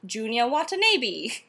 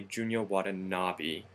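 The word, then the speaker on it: Junya Watanabe: were to pronounce it though without any help it would probably sound like Junior wat but um like so many of the Japanese designers the name's always just a little different from what you think it should be so this one's actually Junior wavi just like the actor Ken Wabi you know The Last Samurai wait oh I would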